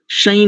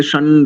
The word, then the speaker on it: शं: उच्चारण बहुत क्लियर है, ये बस दूसरी पंक्ति का प्रथम पद को शई नहीं बोलेंगे, शई राजन ऐसा बोला ना आपने, इसको बोलेंगे शन राजन्नोष, शन राजन्नोषधीभ्यः। ठीक है?